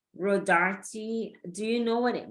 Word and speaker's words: Rodarte: But most people they just say Rodarte. So you kind of grow up because they don't pronounce the E because they think it's silent.